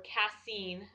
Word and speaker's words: casein: and today is his first gluten-free casein-free or cassine i'm getting used to pronouncing it right day and it's going okay